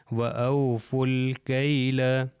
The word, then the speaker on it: وَأَوْفُوا الْكَيْلَ: کے ساتھ مل گیا، اگر اکیلا ہوتا تو او فو ہوتا، مگر اگلے سے جب مل جائے گا تو یہ واو، یہ الف اور یہ الف نہیں پروناؤنس ہوں گے، لکھے جائیں گے، یہ لام سے مل جائے گا بالکل دوسری اگزامپلس کی طرح، تو یہ ہو جائے گا وَأَوْفُوا الْكَيْلَ، وَأَوْفُوا الْكَيْلَ۔ آپ یہ